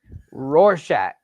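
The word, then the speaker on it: Rorschach: Roarshack is how I pronounce it.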